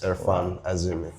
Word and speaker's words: Erfan Azimi: My name is Gundeep and today I have a very special guest, Erfan Azimi. Am I pronouncing it right? You do actually pronounce it right, yes, Erfan Azimi.